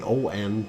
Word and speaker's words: Mayon: What did I spell it wrong? Well, you spelled Mayon wrong. It's Mayon, but still, it's in the incorrect one, Sarah.